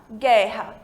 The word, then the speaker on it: guerra: U né Igual portuguesa a gente não falaram Boo erra a gente fala guerra então em espanhol guerra